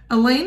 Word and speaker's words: Elaine: Elaine is a cross between Chewbacca from Star Wars and Lois Lane, who rhymes with pain.